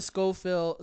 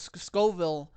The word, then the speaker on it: Scoville: think that's even on the Scofield Scoville um I said it wrong like uh that's a